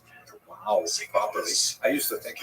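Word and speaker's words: João: Melbourne for sending me notes on how to pronounce Wow Wow properly. I used to think it was hu like when the baby was born the mother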